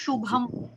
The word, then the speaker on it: शुभम: जी शुभम। सु में शु जी में फर्क हो गया ना, स में शु में, स में श में फर्क हो गया, फर्क होता है।